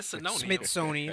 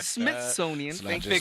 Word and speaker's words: Smithsonian: control the Mis misoni I'm saying it wrong come on smithonian Smithsonian it's not just me